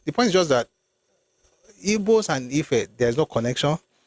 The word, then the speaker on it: Igbo: I can never call Igbo IGBO because even they don't pronounce Igbo. There's no B in their own orthography. Linguistic. Their own is aggressive. It sounds like bo.